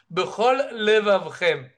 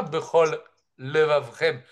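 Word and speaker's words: בכל לבבכם: Par exemple, Ezeu dikdu kotiot, bechol levavchem. Celui qui lit rapidement, eh ben, il rate une lettre. Bechol levavchem. Il ne prononce pas Bechol Levavrem avec deux lamed. Il en a avalé une.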